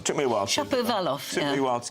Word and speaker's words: Shapovalov: He lost his first set, and that's a good pronunciation. It took me a while. Shapovalov.